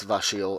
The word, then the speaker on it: Vashele: changed the letters and that's why I still pronounce it as Vasile and not not as a shell okay I